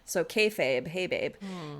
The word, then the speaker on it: kayfabe: someone said online that the way to pronounce it is it's like akin to hey babe. So kayfabe hey babe kayfabe which refers to the industry practice of pretending the wrestling is real.